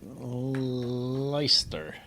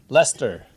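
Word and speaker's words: Leicester: it wrong for years I'm gonna say it like leister Lester Lester that's exactly how you say it actually that's exactly it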